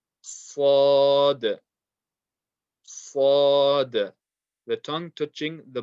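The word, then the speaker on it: ص: Sad, sad, sad.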